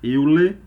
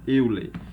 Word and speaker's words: Euler: Mas vamos estar fazendo a pronúncia mesmo no nosso português, então vamos chamar Euler, sabendo que o correto aí é Euler, tá?